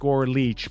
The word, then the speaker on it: Leitch: It was Brian with a Y _ Leech, but Leech is spelled Leitch.